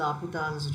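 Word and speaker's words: L'Hôpital: based on hospitals rule actually we pronunciate this as laputan's rule so let us go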